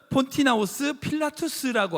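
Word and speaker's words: Pontius Pilatus: 빌라도는요, 헬라식 이름으로는 폰티나우스 필라투스라고 하는 발음으로 할 수 있어요.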